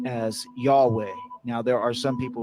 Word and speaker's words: Yahweh: the English language as yhwh and it is pronounced as Yahweh now there are some people who pronounce it